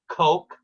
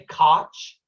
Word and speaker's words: Koch: firm from dallas called some people pronounce it coke some say koch but uh koch coke